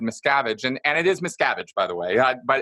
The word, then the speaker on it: Miscavige: talk about David Miscavige and and it is Miscavige by the way but it's not uncommon you're not the only person who's ever mispronounced it is Miscavige so it's Miscavige okay yeah it's Miscavige and he okay so